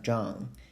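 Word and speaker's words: Zheng: pronounce this as and John as John and this is the closest pronunciation to my Chinese name you can call me dr.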